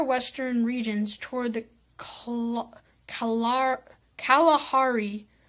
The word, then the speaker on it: Kalahari: life the drier western regions toward the calar Kalahari spelled ka la har I desert or left